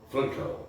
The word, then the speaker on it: Frankl: Frankl, é a pronúncia do alemão, né?